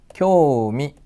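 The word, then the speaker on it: 興味: 3번은요 요단을 알아둡시다 흥미죠 흑미 관심이란 뜻입니다 교미 라고 발음이 됩니다 4번은 이제 홈이 이렇게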